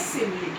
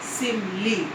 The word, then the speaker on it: simile: सबसे पहले तो इसकी स्पेलिंग देखिएगा, SIMILE, सिमिली। ठीक है। एक वर्ड होता है हमारा स्माइल। स्माइल मीन्स मुस्कुराहट, तो उसकी स्पेलिंग हमारी होती है SMILE, स्माइल मीन्स मुस्कुराना। लेकिन यहाँ हमारा जो ये फिगर ऑफ स्पीच है इसमें है SIMILE मीन्स इसमें I2 है।